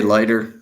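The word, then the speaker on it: Leiter: shortstop over um jack what is it leader lighter i've heard it pronounced a couple of ways i say lighter fine we'll put lighter jack lighter was i think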